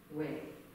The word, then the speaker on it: Yahweh: it last week, but when you breathe in, the word Yah is not pronounceable, it is actually a sound, a gasp. Ah, Yah, Yahweh. It is the breath, that's the Hebrew.